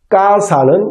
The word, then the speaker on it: casa: 까사는 CASA죠. 그럼 이것도 또 쌍기역으로 까사.